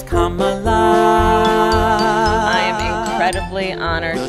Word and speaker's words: Kamala: You dare pronounce her name Kamala. It's Kamala.